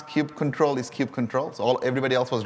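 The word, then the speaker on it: kubectl: the Family Feud the actual canonical way to pronounce Cube control is Cube control so all everybody else was wrong uh I'm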